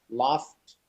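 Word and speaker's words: laughed: লাফ, লাফড, লাফড, হাসা। এখানেও শেষে ইডি বা ডি আছে, আমাদেরকে উচ্চারণে পড়তে হবে টি, ট এর মতো।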